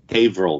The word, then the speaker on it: Haverhill: place in October this year I can never pronounce the town's name correctly. Go ahead, Chris. Haverhill, Massachusetts.